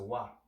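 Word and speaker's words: ו: See a lot of people pronounce this ooh, but it's a wa.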